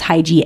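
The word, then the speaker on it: hygge: a book in the morning because that promotes hyi and another word for like hyi I think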